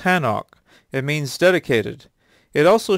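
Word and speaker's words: חנוך: son's memory be eternal the name enoch in the original hebrew is pronounced hanok it means dedicated it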